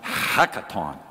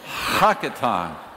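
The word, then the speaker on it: הקטן: It's a Hebrew word pronounced something like hakaton. I like to say it just because it's fun to say. It's kind of like clearing your throat.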